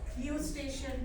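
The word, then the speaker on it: Eustachian: fings that is called u station tube even though the spelling is EU we will we will say it as we pronounce it as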